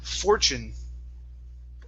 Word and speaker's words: fortune: word fortune okay so here we want to pronounce a c h uh i n sound okay so it's fortune uh fortune okay very nice very nice